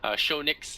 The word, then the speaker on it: Shonix: Shonix, that's how you pronounce this. Shonix.